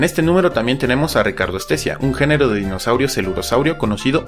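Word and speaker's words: Richardoestesia: y tool estés y ricardo especia aunque bueno este último técnicamente se pronunciaría richard tu estés ya persona raro sharon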